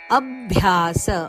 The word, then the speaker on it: ಅಭ್ಯಾಸ: ಹೇಳಬೇಕು ಮಯಸ್ಥಿರಂ ಅಭ್ಯಾಸ ಯೋಗೇನತೋ ಅಭ್ಯಾಸ ಅದ ಮೇಲೆ ಆಘಾತ ಇದೆ ಅಭ್ಯಾಸ ಯೋಗೇನ ತತೋ ಇಲ್ಲಿ